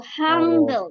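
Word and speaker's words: 한글: sini adajat Korea yaitu hangle biasanya dibacanya hangle ya hangle Iya hangle betul kalau dari angel ya kalau kita orang Angel Nah dari eh abjat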